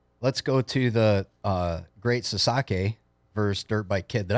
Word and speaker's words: Sasaki: in Japan and let's go to the great Sasaki first dirt bike kid did I get that